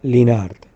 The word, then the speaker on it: Linhart: Realmente, en alemán se pronunciaría Linhart, porque en alemán la H no se pronuncia. Esa sería la pronunciación correcta. Sin embargo, como en España la H se pronuncia un poco como si fuera una J, se hace un poco, digamos, se dice Linhart.